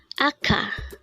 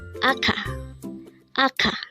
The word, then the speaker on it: 아까: word number 83 AKA AA this pronounce is a two syllable word the first syllable is a second is Ka pronounce it with me AKA AKA what is the meaning